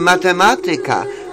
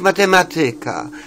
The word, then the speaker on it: matematyka: No to więc, jeżeli mówimy matematyka, to nie możemy mówić matematyka. Jeżeli mówimy polityka, to nie możemy mówić polityka. Bo akcent kładzie się na trzeciej sylabie od końca, na trzecią, tak.